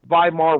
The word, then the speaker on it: Weimar: uh google the weimar weimar republic if it's pronounced like a v but it's spelled with a w that's the way germany does it but uh uh uh